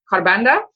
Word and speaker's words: Kharbanda: SA and it's Carbanda.